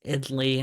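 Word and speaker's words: idli: idley idley idly okay it's idly like Italy but no the second Italy okay okay we got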